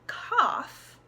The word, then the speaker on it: cough: a you sound rough in cough we have come over like an a an open ah sound cough and you can think of it like when you're coughing you have your mouth open like an AH sounds alright so for example